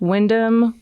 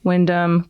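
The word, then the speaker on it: Wyndham: His name is Windam. Yeah, it's spelled W I N D H A M and then W Y N D H A N. So, Windham Wend okay whatever.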